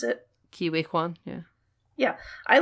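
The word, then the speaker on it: Ke Huy Quan: Even Ouroboros, he's barely, like, I like Ki-Hoi Kwan, is that how you pronounce it? Ki-Wei Kwan, yeah.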